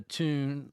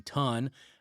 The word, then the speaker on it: tun: finish the u the tune or excuse me, ton. Uh I always want to say tune because it looks like tune to me, but it's ton pronounced ton.